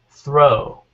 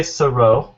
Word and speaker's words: throw: Yeah, it's one syllable again. Throw. If you say thorough, then that sounds like a different word. You know, thorough. Oh, sorry. It sounds like thorough. Sorry, I messed up the spelling, but thorough. If you put an extra syllable, it sounds like thorough.